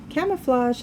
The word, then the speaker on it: camouflage: uses camouflage to hide camouflage has a soft g sound in it camouflage is